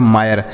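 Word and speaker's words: mire: उसी तरीके से एम से लिखेंगे माँ, आई का उच्चारण आई के रूप में लिखा गया माय, आर ई से रॉ लिखा गया मायर।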